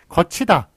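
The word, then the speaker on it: 걷히다: 거치다. 이것도 디귿과 티읕이 만나가지고 티읕이 되네요. 그 다음에 거치다로 이렇게 발음이 됩니다만, 어쨌든 표기에 반영을 안 하고 거치다, 다치다, 묻히다, 예, 그런 식으로 써주는 것이 맞겠습니다.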